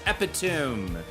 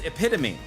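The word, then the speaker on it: epitome: Ooh, now that one bloated sack coming in with what I think is commonly mispronounced as Epitum, but it's Epitomy and I don't think I had a problem with that one.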